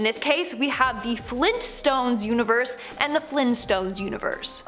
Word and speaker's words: Flintstones: as so no apparently it's the Flint stones with the hard t uh I refuse to